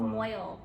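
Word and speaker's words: mohel: And we decided to go with a moel. Is that how you say it? A moy-yul. A moy-yul. It's a moy-yul.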